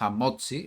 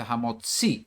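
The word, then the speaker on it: המוציא: Baruch ata papá hamotzi lechem min haaret. No es hamotzi, es una forma americanizada. No se dice hamotzi, se dice hamotzi, con el acento en la i final.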